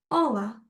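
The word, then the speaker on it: olá: a lot of energy so we have to pronounce it as an open sound so I don't say all or H I say h h I am happy I have energy so Ola Ola hi hello then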